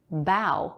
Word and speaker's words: bow: the same way but pronounced bow with the ow diphthong that's something that a